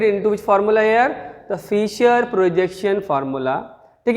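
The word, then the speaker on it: Fischer: The point number 2, Fisher projection formula or cross formula. Fisher is a name of scientist. Here C is silent.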